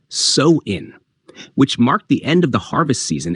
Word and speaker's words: Samhain: to the ancient Celtic Festival of samin pronounced soin which marked the end